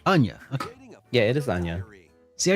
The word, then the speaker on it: Anya: is fire oh I did say it right Anya yeah it is Ana see I should probably